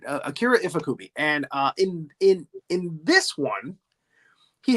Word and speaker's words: Akira Ifukube: And I hope I pronounce that right. Akira Ifukube.